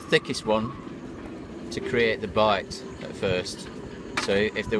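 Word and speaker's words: bight: So we start off with a bite like that. It's a loop, but in nautical terms we call that a bite, which is spelled B-I-G-H-T.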